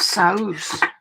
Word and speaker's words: Sauce: this product is called it's spelled sauce but it's pronounced soz and I'm just gonna